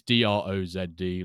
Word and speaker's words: Drozd: It's Drozd, like Drozd. He's opposite of Dross.